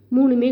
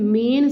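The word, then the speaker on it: मैं: மே மே அதை மேன்னு சொல்லணும், மேன் அப்படின்னு சொல்லக்கூடாது. ஆக்சுவலாக இந்த டாட் வச்சா இன் ப்ரொனவுன்ஸ் பண்ணணும், ஆனால் அது சைலண்டில் வரும், அதனால் ப்ராக்கெட்டில் போட்டிருக்கு.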